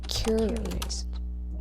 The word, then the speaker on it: curate: Curate. Curate with the emphasis on the first syllable.